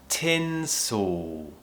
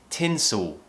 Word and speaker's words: tinsel: Tinsel. Okay, so don't let the tongue move. Keep it up high. Tinsel. Now, don't be afraid if it feels unnatural in the beginning.